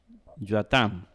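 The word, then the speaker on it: Ἰωαθάμ: ¿Por qué el TH que le puse aquí? Bueno, por la tita. ¿verdad? Que generalmente se pronuncia como una Z, Huasam, ¿verdad? En el griego moderno. En el griego de Erasmo se pronunciaba como una T, ¿verdad? Como una Q en algunos casos, nosotros lo vamos a hacer como una TH, Yoatam.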